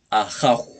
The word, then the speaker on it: Ajaw: o en castellano Así que nuevamente Dios es ajo